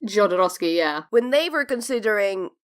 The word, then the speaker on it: Jodorowsky: Scott and Alexandra two drafts key am i pronouncing that right Jodorowsky yeah when they were considering bringing June to